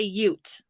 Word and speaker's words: Ute: I believe they say Ute. Not Utes, That's Ute.